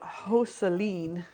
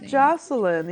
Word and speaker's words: Joseline: sticky on the tip I finally figured out hoseline all right I remember he was he keeps having the I think he has the pronunciation copy pasted in his clipboard on his computer because he's always telling people how to properly it looks like Joseline you know and then